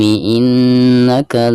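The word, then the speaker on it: إِنَّكَ: Nah, di sini ada nun yang bertasdid ya, yaitu merupakan salah satu daripada huruf gunnah. Maka ketika membacanya itu harus ada gunnah ya, baik 2 atau 3 harokat. Jadi ditahan dulu ya.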